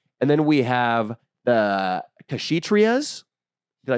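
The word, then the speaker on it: Kshatriyas: then we have the krias did I say that right krias what's that shatri chrias the K is silent and they are the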